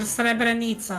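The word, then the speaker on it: Srebrenica: But just before the Dayton agreement happened, there was the genocide of cerebranita or cerebranita, I guess, if you want to pronounce it in an English way.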